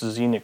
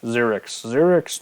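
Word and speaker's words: Xerex: Next, Xenic Strobe Knight. Xerix, no, you said it wrong.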